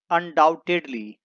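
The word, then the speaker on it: undoubtedly: निस्संदेह यानी कि अनडाउटेडली। यहां पर बी साइलेंट है।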